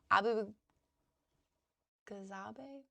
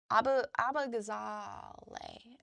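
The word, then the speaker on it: Abughazaleh: Kat Abu Ghazabe?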